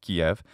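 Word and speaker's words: Киев: k-i-e-v so that makes kiev but in standard russian this is in fact pronounced kiev and note that the final letter v sound is devoiced into an f sound but in ukrainian it's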